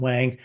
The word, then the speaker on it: Wang: Yes, Wong, See? yes. Yes, But since, I went to grade school and people pronounce it Wang, I just did not bother to correct.